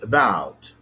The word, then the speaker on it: about: The first syllable is schwa. This vowel, schwa. It makes a syllable. So this schwa, it's pronounced it makes a syllable. The second syllable is composed of ba, aw, ta. It's composed of a consonant ba, a diphthong ow, and another consonant ta.